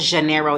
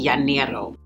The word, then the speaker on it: janeiro: it the correct way i know that janeiro is actually yaniro yanero am i doing